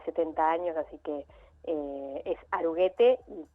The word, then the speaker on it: Aruguete: Una aclaración es Aruguete, o sea, la E final se pronuncia.